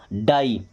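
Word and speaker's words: die: Okay, अभी अगर आई और ई एक साथ आते हैं तो इनका उच्चारण करते हैं आई की मात्रा की तरह। कैसे करते हैं आई की मात्रा, जैसे डी से क्या बनेगा ड, और आई लगाना तो आई का मतलब बड़ा की मात्रा और ई लगा देना, क्या बन गया डाई।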